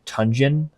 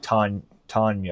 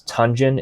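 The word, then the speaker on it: Tonyan: You know, they do have a good backup tight end in Robert Tunyon, I think his name is, not Tanya or whatever, the Packers guy, but I think it's Tunyon is his name.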